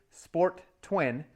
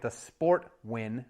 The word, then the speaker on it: Sportwin: Nightmare on our hands we have the Evinrude sport twin I was calling it The Sport Win originally but it's pronounced sport twin I was told and you